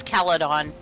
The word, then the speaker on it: Caledon: We went to almost Caledon. Point. Does you've been saying this wrong? It's Caledon.